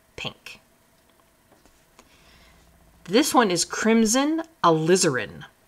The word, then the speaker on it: alizarin: This one is crimson alizarin, so like lizard, alizarin hue.